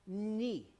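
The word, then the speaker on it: Mni: Ni. That is the word for water. M-N-I is how we would spell it with our letters, but ni.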